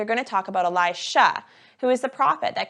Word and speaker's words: Elisha: If you look at the words, you can see that Elijah, who went to Mount Carmel for the fire setup, is spelt like this, with a zh sound. And Elisha, that comes into the story today, is spelt like this, with a sh sound.